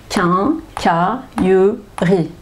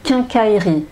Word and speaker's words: quincaillerie: eric un cas alors normalement je devrais dire quincaillerie quinqua lieu bris mais si je parle évidemment je n'ai pas prononcé de cette façon là et je vais dire quincaillerie quincaillerie quincaillerie voit la quincaillerie donc la